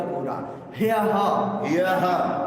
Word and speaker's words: परह्यः: को कहेंगे यह य यह ह को आधा बोलना है और य को पूरा ह य य के बाद विसर्ग भी है ना तो इस विसर्ग को ह की तरह उच्चारण होता है तो आप कहेंगे ह